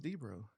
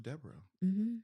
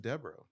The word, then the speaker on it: Debo: can I tell you my last name is Debo oh yeah well why do I think it was Debro is okay so it's Deborah yeah I didn't know that I've been pronouncing it wrong all this time okay so deborra